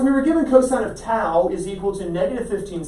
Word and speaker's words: tau: cosine of tap we need the tangent of tau we need the tau t a u that's how it's spelled towel not like towel but without the